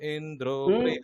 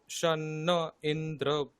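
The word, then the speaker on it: इन्द्रो: अच्छा, शन्न इंद्र बृहस्पतिः। ইন্দ্র, এই যে নিচে স্বরগুলো ঠিকঠাক করে আসতে হবে। শন্ন ইন্দ্র বৃহস্পতিঃ। शन्न इंद्र बृहस्पतिः। ওকার টানতে হবে, ইন্দ্র এই ওকারটা টানতে হবে।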